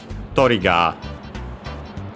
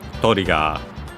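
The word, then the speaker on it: トリガー: In this case, interestingly enough, it's actually not exactly the same as English, because it's actually on the first syllable, so on the Toriga. Toriga.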